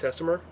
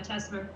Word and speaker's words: Tessmer: 722 uh is teser is that correct teser yeah teser teser okay so anyways as uh what we